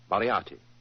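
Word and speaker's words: Moriarty: mispronounce it I'm afraid I'll have to begin calling it the way it looks m o r i a r t y mariati mariati I shall remember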